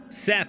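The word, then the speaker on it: Szeth: Seth is how they pronounce it. Is that... Hold on, I gotta scroll up and look at it again. Yeah, so when they... In the audiobook, they pronounce it as Seth.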